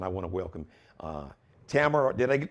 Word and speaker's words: Tamara: probate judge and i want to welcome uh tamara did i pronounce it right tamara that is correct it's tamara listen i